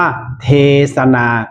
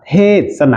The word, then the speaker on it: เทศนา: หรือ ยัง ครับ ว่า คำ ว่า เทศน์ เนี่ย ที่ ใช้ ปัจจุบัน เนี่ย ที่ มี สค กรัน เนี่ย จะ อ่าน ว่า เทศนา ก็ ได้ อ่าน เทศนา ก็ ได้ ไม่ ผิด ครับ ท่าน ผู้ ชม ครับ